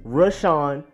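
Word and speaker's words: Rashan: can twist up this name but it is rush on Gary rashon Gary then we have safety Deonte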